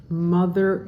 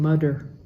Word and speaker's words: mother: Mother is also a voiced, instead of saying mother with a D sound, mother.